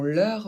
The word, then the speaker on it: leur: Ce sont leurs vélos. E et U, normalement ça fait E. Mais ici, il y a un R, donc une consonne, dans la même syllabe. Donc, on va le prononcer E.